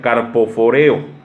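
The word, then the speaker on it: καρποφορέω: viene de una palabra griega también que se pronuncia carpoforeo.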